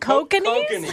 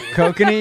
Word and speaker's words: Kokanee: Oh, Kokanese? Kokanee, you mean? Kokani, whatever. I don't know. Is that how you pronounce it? Yeah, kokanee.